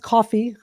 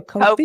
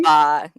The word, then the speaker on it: Ko-fi: It's pronounced coffee. Doesn't look like it. I used to always go coffee. Ko-fi. Or like lo-fi. Yeah, Ko-fi.